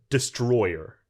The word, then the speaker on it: Destoroyah: They say, "Hey, he's Destroyer." Well, yeah. You're right. Yeah, so I'm I'm not I'm not for this Des- I'm going to stick with Destoroyah.